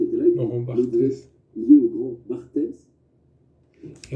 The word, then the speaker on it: Barthes: crois, de Roland Barthes, comme il ne sait pas prononcer Roland Roland Barthes, Barthes, il dit Roland Barthez, parce qu'il pense que,